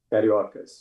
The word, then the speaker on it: Cariocas: Cariocas.